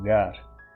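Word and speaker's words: γάρ: isso chama gar que isso é pronunciado gar você vai lá para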